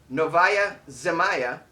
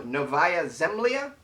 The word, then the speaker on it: Novaya Zemlya: bears into residential areas novaya zamaya located off did i say it right no novaya zemlya man located off russia's